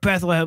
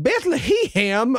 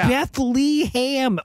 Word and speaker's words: Bethlehem: I almost went with best worst pronunciation of Bethlehem he's like Bethleham or whatever the beam he says Bethlehem over and over again